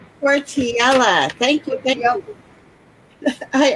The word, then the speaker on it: Cortiella: Cortiella. Cortiella. Thank you. Thank you. I always mispronounce it, so I didn't want to do that today.